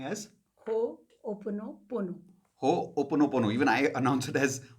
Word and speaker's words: Ho'oponopono: Ho'oponopono. Even I announce it as Ho'oponopono, but it's actually as Ho Pono. Opono. Pono. Pono. So Ho'oponopono.